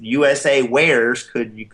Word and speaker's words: USAwares: This is how they're pronouncing it, is USAwares.